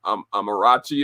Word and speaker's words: Amarachi: And so without further ado, I want to introduce you to my very special guest, Amma, who goes by the name of Amarachi.